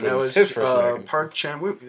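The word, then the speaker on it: 박찬욱: was his first American Park Chan-wook. Am I saying that right? Yeah, you're saying it right, because I was about to say Chark again.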